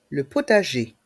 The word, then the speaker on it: potager: mot jardin les lettres I et n se prononcent a les outils de jardin les outils de jardin le potager le potager dans le mot potager les lettres